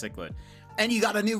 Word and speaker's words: cichlid: you fish see what you get a frasa cichlid that's what Dan said it's pronounced cichlid and you got a new record for it